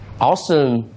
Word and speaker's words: Ausdom: Ausdom means like awesome. That's exactly what we want to build the brand, and that's why we named it. Because it has a similar pronunciation with awesome.